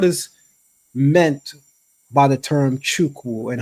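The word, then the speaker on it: Chukwu: what is what is meant by the term chuku and how do you actually really say it all right I want to give you Pro it's it's pronounced chiu chuku okay um it's Chi and uku okay and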